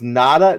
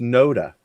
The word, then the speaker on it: NotA: okay so uh so is nota pronounced nada no it's pronounced nota no des unless we're using